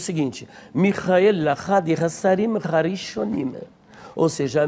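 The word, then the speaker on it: מיכאל: O nome, na verdade, ele vem do hebraico Michael, e tanto no grego quanto no hebraico a pronúncia é justamente esta, Michael, Michael.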